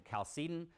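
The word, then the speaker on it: Chalcedonian: Years later you had the cal the another creed pronounced a calced. So that's called the calcedonian creed.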